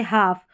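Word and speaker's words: half: जैसे walk, talk, चौक, ये जो एल के में एल है ना वो साइलेंट है, के नहीं है, ठीक है। एल के में एल जो है ना वो साइलेंट है, ठीक है। जैसे हाफ, वॉक, टॉक, चौक, हाफ,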